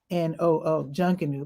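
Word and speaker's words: Junkanoo: So the way it's spelled here at Stagville is 𝗕𝗓𝗓𝗄𝗏𝗏𝗏𝗏𝗏𝗏𝗏𝗏𝗏𝗏𝗏𝗏𝗏𝗏𝗏𝗏𝗏𝗏𝗏𝗏𝗏𝗏𝗏𝗏𝗏𝗏𝗏𝗏𝗏𝗏𝗏𝗏𝗏𝗏𝗏𝗏𝗏𝗏𝗏𝗏𝗏𝗏𝗏𝗏𝗏𝗏𝗏𝗏𝗏𝗏𝗏𝗏𝗏𝗏𝗏𝗏𝗏𝗏𝗏𝗏𝗏𝗏𝗏𝗏𝗏𝗏𝗏𝗏𝗏𝗏𝗏𝗏𝗏𝗏𝗏𝗏𝗏𝗏𝗏𝗏𝗏𝗏𝗏𝗏𝗏𝗏𝗏𝗏𝗏𝗏𝗏 J-U-N-K-A-N-O-O, John Canoe.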